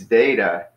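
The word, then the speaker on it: ζῆτα: I've hung around where they put like a D or a delta sound in there kinda like they do in Europe so they would say it's data instead of Zeta but you could say either way I don't care and then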